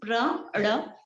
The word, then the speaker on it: Pranav: The pronunciation is Pranav. Pranav. It's not Pranav. It's not na sound. It's Pranav. I know it's very difficult to pronounce the da sound.